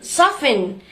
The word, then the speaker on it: soften: No tea is heard in fasten, hasten, which make them rhyme with arson, mason. The same applies to listen, soften, nasty, hasty, faster, chaster, master, plaster, taster, waster.